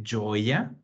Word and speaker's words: gioia: E ricordate la pronuncia. Gioia. I-I-O. La I non si pronuncia, allora sarebbe una specie di gio. Per quello gio-ia. E gioia. Non c'è la I, non è gioia, è gioia.